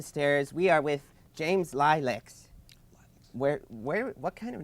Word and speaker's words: Lileks: We are with James Lileks.